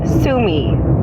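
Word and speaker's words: Sue Me: song is so this week's song is called Sumi by Sabrina Carpenter it's spelled s u e and then space m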